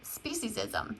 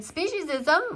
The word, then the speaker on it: speciesism: That's called speciesism. And speciesism, or speciesism, there's 2 ways of pronouncing it, is the purest form of racism.